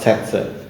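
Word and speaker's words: tsetse: Bacanya setse atau sese ya, setse sebenarnya ya.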